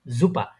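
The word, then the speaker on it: Super: ওটাকে ওরা বলে কি জুপা। ওই দেখেন এটা কিন্তু এস, কিন্তু ওই এসটা মাঝে মধ্যে আপনার বিশেষ করে এসটা জে এর মতো উচ্চারণ হয় অনেকটা, ঠিক আছে।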